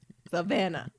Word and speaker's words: Savannah: necessary to get creative like just say how it looks Savannah because really the H is not that pronounced wrong it's silent just beyond me I